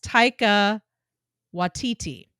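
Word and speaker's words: Taika Waititi: maybe how you say it taika yeah yes taika watiti he's adorable love that guy um kind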